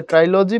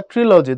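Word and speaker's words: trilogy: তো সাহিত্যের ক্ষেত্রে ট্রাইলজি বা ট্রিলজি, দুটো উচ্চারণে ঠিক।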